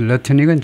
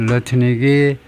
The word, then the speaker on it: Lutnick: 하워드 러트닉은 자꾸 나온 사람인데, 디지털 애셋 서밋, 가상화폐 그 정상회담에서 at the White House in March, 지난 3월에, 그래서 하워드 러트닉이 지금 무슨 장관이냐 하면, 하워드 러트닉.